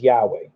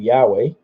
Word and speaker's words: Yahweh: best I can tell the way you pronounce it is Yahweh I could be wrong